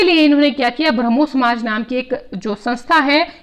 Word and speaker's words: ब्रह्म: लेकिन बंगाली लोगों के लिए, क्योंकि राजा राम मोहन रॉय बंगाली थे और बंगाली में 'ब्रह्मा' का उच्चारण 'ब्रह्मो' होता था।